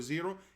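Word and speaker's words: Xero: zero a Amazon 2x which is 0 0 spelled with X naught 0 like Z ok so a 2x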